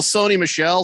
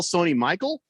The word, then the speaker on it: Sony Michel: coburn tomato tomato says do you call sony michelle sony michael well no it's spelled michelle yeah there's there's none of the letters or it's missing the letter that makes it michael right sony michelle mm-hmm